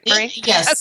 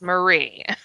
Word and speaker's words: Marie: you spell it right it's not Mary it's Marie oh gosh and not Maria please yes not Maria either so my goodness we're